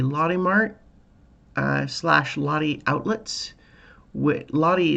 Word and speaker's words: Lotte: Lottie is a big brand here, and it's spelled Lotte.